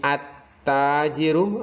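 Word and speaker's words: التاجر: Misalnya di sini at-tajiru, apabila ada alif lam bertemu dengan ta, maka jangan sampai dibaca al-ta, tapi langsung ke at-tajiru.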